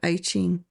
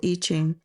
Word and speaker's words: I Ching: the Asian art of the I Ching or I Ching, depending on how you pronounce it.